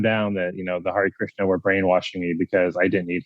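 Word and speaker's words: Hare Krishna: So it was Har Krishna right? Yeah. Hari Krishna.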